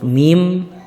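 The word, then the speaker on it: م: Selanjutnya adalah makharijul huruf, masih asyafatan, dua bibir, adalah huruf mim, ba, dan huruf waw. Huruf mim, ba ini keluar dari dua bibir yang dirapatkan. Ma, ba.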